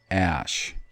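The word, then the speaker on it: עָשׁ: I'm on Strong's number H6211, Osh, which they, of course, pronounce ash.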